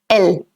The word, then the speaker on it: elle: So it's going to be L.